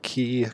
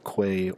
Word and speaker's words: quay: with a bit more key I looked it up Kia Quay or Kay are all accepted pronunciations Rox that's not the